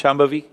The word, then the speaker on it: Shambhavi: Can you pronounce Shambhavi?